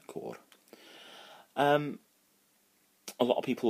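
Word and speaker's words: côr: And it's pronounced very much like an apple core, but you have to roll the R at the end. So it's, core.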